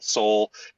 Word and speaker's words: Sol: Latin themed uh campaign with Sol Seoul is how it's pronounced but we really replaced